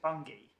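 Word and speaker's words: Bunge: as I'm now taught, I should pronounce it Bungie.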